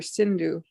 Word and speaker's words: Sindhu: Hindu means there is one river, Sindhu. The Mohammedans, they pronounce Sa as Ha.